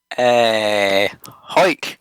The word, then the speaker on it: Hawick: Hawick is how it's pronounced.